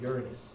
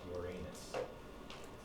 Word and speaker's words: Uranus: It's about Miranda, which is a moon of Uranus. That's how you pronounce it. It's not Uranus.